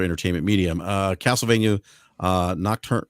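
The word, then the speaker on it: Nocturne: medium uh Castlevania uh nocturn I can't pronounce that I always nocturn nocturn thank you I always butcher that uh Gran Turismo I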